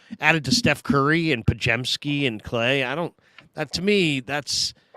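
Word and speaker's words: Podziemski: Pajemski. Pajemski. Okay, there we go. Pajemski. ZIM is like JEM.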